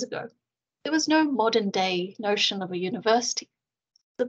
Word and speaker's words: 大: looking at the characters themselves this first character pronounced as da means big or great and you can see